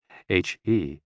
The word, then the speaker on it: He: The 6 sounds are XU, pronounced like shh, with a deep sigh, which is associated with the liver, He, pronounced like her, with a yawn, which is associated with the heart.